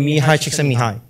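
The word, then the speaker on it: Csikszentmihalyi: by a renowned psychologist by the name of Mii CH Mii he's a Hungarian and that is the correct way to pronounce his name and so he basically uh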